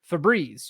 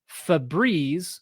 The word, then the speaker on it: Febreze: that's a Mandela effect okay next one up Febreze you might have this at home and use it every day it says the article but failed to notice the air freshener brand is spelled Febreze or Fabrez if I was going to use a French